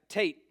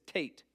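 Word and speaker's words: טית: right's a okay then you got Tate T Hebrew has two T's why I don't know Hebrew also has two s's why I don't know it does there's two T's this ISS Tate so it's t then you got yod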